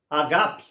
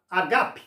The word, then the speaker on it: ágape: dele fosse a palavra Ágape que é amor é Ágape não é Ágape a palavra é paroxítona Ágape mas todo mundo diz Ágape mas observação é